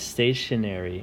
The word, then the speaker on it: stationery: the other oddball is stationary and it's an oddball because it's spelled ery but it's pronounced Airy like it was ary so that's why this